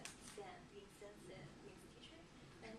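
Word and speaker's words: 先: Okay, and this one is just pronounced as sen, being sensei means teacher.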